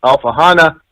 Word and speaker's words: Alfahanne: listeners and viewers that it's alpha Hana and the the new